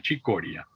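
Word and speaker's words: Cicoria: que pero sin embargo lo pronuncian igual chicoria como en italiano y él prefiere llamarse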